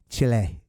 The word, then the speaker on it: Chile: And she kept calling it Chile. And I started to think, how beautiful is that versus the way the Americans say it?